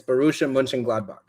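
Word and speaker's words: Borussia Mönchengladbach: Uh so the way it's pronounced right there is Munchin. So like like Munchin Munchin Munching. It's Barusha Munchin Gladbach.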